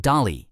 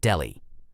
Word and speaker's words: Dali: Next stop, Dali. And just to clarify, it's pronounced Dali and not Delhi.